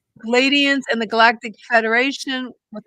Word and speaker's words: Pleiadians: Pleiadians? Pleiadians and the Galactic Federation.